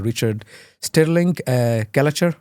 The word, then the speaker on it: Stirling-Gallacher: Richard Stirling-Gallacher, should I say it right?